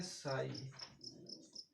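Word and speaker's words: psi: है, इसे कहते हैं साई। इसका तो जिक्र हायर क्लासेस में होता है, जैसे कि बीएससी वगैरह में। इसके आगे पी साइलेंट रहता है और एस आई जो होता है उसे साई पढ़ते हैं।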